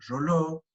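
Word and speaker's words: Reuleaux: También, como les dije, Rolo, Realeau, se escribe Realeau, pero se pronuncia aproximadamente Rolo, es quien clasifica todas estas juntas, y a estas juntas completas también se les llama pares inferiores.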